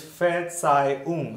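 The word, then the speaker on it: Verzeihung: It is fair, tsai, R will go silent. Yeah, fair, tsai, So I'm also not pronouncing this H here. So this phrase, you will read it like fair, tsai, its meaning is pardon me, pardon me.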